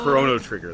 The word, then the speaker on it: Chrono Trigger: I know it's pronounced Chrono Trigger though okay I I always call it Chrono but I know it is Chrono because it's like time you know like yeah